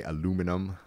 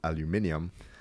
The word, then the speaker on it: aluminium: is used to make what Americans say aluminum where it should be pronounced aluminium so it's Australia China